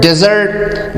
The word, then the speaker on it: dessert: sound is yeah but in the word dessert guys the stress is on the second syllable and the first vowel